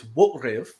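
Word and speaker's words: wo'rIv: And so to illustrate that, we have Worf, in Klingon, it's Wotriv, Choch, the verb, which means to kill, and Durash, who is Duras, right?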